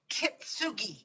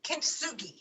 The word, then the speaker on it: kintsugi: you ever heard of a japanese art called kitsugi kintsugi that's it i i think i pronounced it correctly and i had never heard